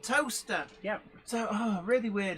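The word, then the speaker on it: Towcester: very very intrigued by a place that was often mentioned on the travel news on the radio as toaster but i never saw it on road signs meanwhile that i i was wondering um why nobody ever mentioned towel sister in the same place it's called toaster yep so oh really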